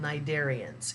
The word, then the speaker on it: cnidarians: that group is called cnidarians it's spelled with a C but the C is silent cnidarians include jellyfish coral